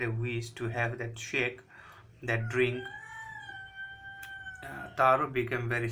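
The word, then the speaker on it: sake: popular japanese drink that pronounced like far in father and k rhymes with which so it is generally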